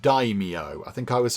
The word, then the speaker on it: daimyo: Apparently that is pronounced daimyo.